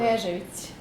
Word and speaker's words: Knežević: Pronounce your last name for us. Knežević.